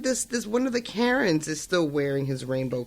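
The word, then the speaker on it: Caron: was like what but their name is spelled c-a-r-o-n and i can understand it being pronounced that way it makes sense i'm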